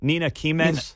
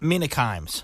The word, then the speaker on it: Mina Kimes: that her name Mark is that how you pronounce it Nina kimes Mina kimes KES okay thank you see